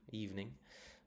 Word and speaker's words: evening: It's also on the eve. That's the stressed syllable. Is eve, evening.